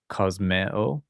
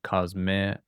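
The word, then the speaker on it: κοσμέω: kosmeo Notice these two vowels are not a diphthong, so we separate them as two separate sounds. kosmeo eh o phobos phobeo agape You've probably heard that word before.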